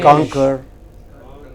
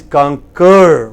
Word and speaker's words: concur: It is not conquer, it is conquer.